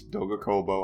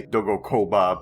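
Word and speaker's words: Doga: I always mispronounce that name, but it's Doggo. I always want to say Doggoa, but it's the other way around.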